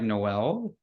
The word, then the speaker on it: Noel: your name right yeah it's actually pronounced um like Christmas like Noel so it's like a